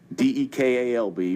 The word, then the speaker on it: DeKalb: And DeKalb, for those folks who are new to the metro area, it's spelled like DeKalb, D-E-K-A-L-B, but we call it DeKalb here in the South.